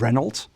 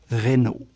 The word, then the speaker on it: Renault: It's not Renault, it's just like Chevrolet, Renault. It's a silent LT.